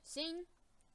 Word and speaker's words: Singh: Singh.